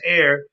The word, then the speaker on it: Aer: Along the way, the city is called Air, spelled Aer, but it's pronounced Air, and into the countries